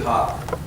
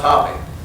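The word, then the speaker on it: Hoppe: And then you might try Who's Willie Hop? National Billiard Champion, it's pronounced Hoppy.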